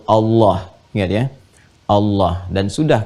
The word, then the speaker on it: Allah: A lagi, kemudian H, dibacanya tetap mengembalikan kepada diksi aslinya, tulisan aslinya dalam bahasa Arab, yaitu Allah.